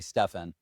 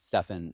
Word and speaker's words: Stefan: Of course, when we read it in English, it looks like Steven, but there isn't really a long e in the Hebrew Aramaic, so I always say Stefan.